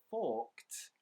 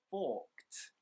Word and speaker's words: forked: remember when we use the word forked the ed actually makes more of a t a t sound forked forked forked out so guys those are